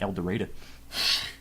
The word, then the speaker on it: El Dorado: Except in southern Arkansas, they pronounce it El Dorado.